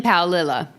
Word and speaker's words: Paolilla: So I know that this bitch's name is Christine Paolilla.